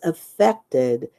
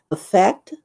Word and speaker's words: affect: problems she affected indifference so as a verb you pronounce it a fact and of course the meanings are here but there is another word there's related to this spelling which is a noun in as a noun we pronounce it affect in in psychology effect